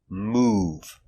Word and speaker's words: move: v is ooh example move making the long ooh sound move move I am buying a